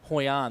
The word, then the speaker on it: Hoi An: David Sinclair, and crew are watching it in Hoi An over in Vietnam right now. So shout out to those guys. Where was that? Hoi An, that's in Vietnam.